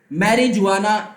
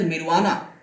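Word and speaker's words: marijuana: जैसे कि मैरिजुआना, इसे मैरिजुआना नहीं बोलते, मैं सिर्फ पढ़ के बता रहा हूं, इट इज मिरवाना। ओके, तो यहां पर जे नहीं होता, साइलेंट है।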